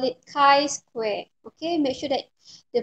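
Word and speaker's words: chi-square: graduated from statistic class you know how to pronounce it it should be chi square okay so we have to for the goodness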